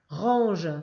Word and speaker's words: range: Range, c'est le en de pantalon, le j de girafe et il y a un e muet.